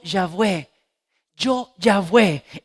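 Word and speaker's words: Yahvé: un momento dice yo jehová realmente dice yo ya ve yo ya ve y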